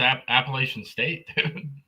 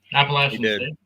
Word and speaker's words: Appalachian State: He saved Franklin's job against Appalachian State. Appalachian State.